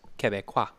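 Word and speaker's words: Québec: touches it touches uh Quebec yeah or as I'm told it's pronounced Kea well Kea is what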